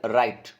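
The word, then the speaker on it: write: Choose the silent letter in the word राइट। राइट इन होता है लिखना, तो लिखने के अंदर अपने राइट में इसको हम लिखते हैं रा इट, तो डब्ल्यू इसमें साइलेंट हुआ, तो ए ऑप्शन इसमें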